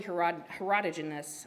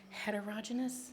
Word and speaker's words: heterogeneous: and can be highly herodogenous I always say that word wrong heterogeneous did I say it right okay which